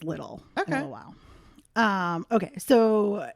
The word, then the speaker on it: Liddell: I think it's Little family, but I want to say Liddell because it's spelled Liddell. Huh. You'll see why I think it's Little in a while.